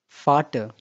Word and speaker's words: Vater: But when it comes in word, it sounds as F. For example, Vogel, Viel, Vater.